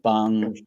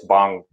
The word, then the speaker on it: Bong: Did I pronounce the Parasite's director? What did you say? It's Bong. Oh, I think I said John Blumhouse. It's Bong.